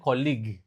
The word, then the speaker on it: colleague: Kalau kolega atau rekan kerja itu kayak gini cara bacanya colig. Kalau ada S-nya colages. Jadi itu banyak orang yang enggak ngeh cara perbedaan pengucapan. Kalau kampus college, kalau kolega colleg.